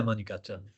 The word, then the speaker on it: Manegacha: So one thing you've become known for personally, and which features really prominently in your book, is the Manegacha language. Am I pronouncing that right? Yeah, Manegacha.